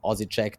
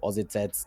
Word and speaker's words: Osijek: I've heard from Osijek to Osijec to Osijek. I've heard it all. We say Osijek.